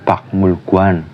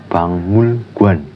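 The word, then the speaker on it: 박물관: Tulisannya kan pakmulguan, tapi dibacanya itu bangmulguan, bukan pakmulguan, tapi bangmulguan, yang artinya museum.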